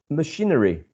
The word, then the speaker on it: machinery: Machinery. Machinery comes from the word machine. Machine, machinery, machine, machinery. It's exactly the same syllable, the one stressed.